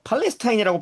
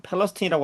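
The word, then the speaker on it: Palestine: 어, 팔레스타인이라고 발음은 하지 않지만은 팔레스틴이라고 하지만은 어, 똑같습니다. 우리가 알고 있는 이스라엘 팔레스타인의 그 팔레스타인과 어, 스펠링이 같죠. 이스트 펠레스틴의 열차 탈선 사고로 그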